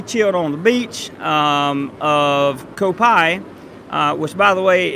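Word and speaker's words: Koh Phai: on the beach of co-pi which by the way is spelled koh PHA i you drop the H I think yeah drop date so it's ko Pi which is about 20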